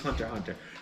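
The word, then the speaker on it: Hunter × Hunter: of there's Hunter Hunter it's Hunter x Hunter but it's pronounced Hunter Hunter but this is one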